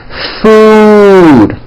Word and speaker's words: food: The word food has a double O, and it's pronounced as ooh, food, okay?